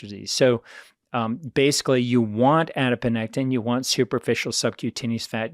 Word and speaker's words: adiponectin: inflammatory molecules it produces a beneficial molecule called adiponectin and it's spelled just like you know it sounds adipo